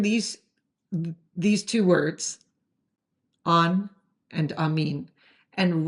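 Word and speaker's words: αμήν: Another word you might recognize is amin. Well, when I say recognize, I don't mean recognize like recognize, but the word amen in English is amin in Greek, and it's written like this.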